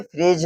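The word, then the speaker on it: fridge: अब हो जाएगा डी साइलेंट। और अब इसे इसे क्या पढ़ेंगे? फ्रिज।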